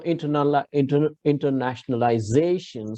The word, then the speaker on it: internationalization: So internationalization. So you have to put an accent, stress on the penultimate syllable if you have a monosyllabic or a huge word like this.